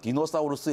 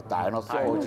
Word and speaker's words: 디노사우루스: 근데 어디 가서 디노사우루스 얘기하면 꼬마애들이 막 피식 웃어요. 관장님 디노사우루스가 뭐예요? 다이너소지 막 그런단 말이에요. 힘들어 죽겠어요. 애들 막 자꾸 그 영어 발음 갖고 그래가지고. 근데 디노사우루스가 만든 겁니다. 공식 명칭이, 한글 네. 명칭이. 그래야죠. 그거 뭐 라틴어식으로 네네네. 하는 거니까요.